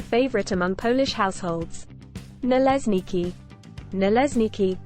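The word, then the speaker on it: Naleśniki: Nalesniki, pronounced na-lehshnaki, are thin Polish pancakes that are somewhat similar to crepes.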